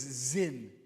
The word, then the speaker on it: Zin: It's not sin, by the way. It's not. In Hebrew, it's zin. It just. In Hebrew, it's spelled differently. It has nothing to do with the English word sin.